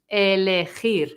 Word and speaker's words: elegir: Elegir. For Lee. Elegir. And remember to pronounce the R at the end, okay?